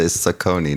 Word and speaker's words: Saucony: You probably say Saucony, don't you?